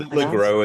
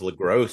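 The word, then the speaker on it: LeGros: Lro is how it's they pronounce it on the commentary. I've always thought it was Lross because it ends with an S, but you know, you know what American language is?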